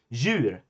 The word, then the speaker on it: djur: These are all pronounced like the Swedish J.